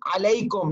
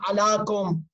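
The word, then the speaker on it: عليكم: As-salamu alayka ayyuhan nabi, alayka ayyuhan, not as-salamu alaka ayyuhan nabi, as-salamu alaka ya Fatimah al-Zahra, no, as-salamu alayhi, as-salamu alayk, alaykum, not alakum.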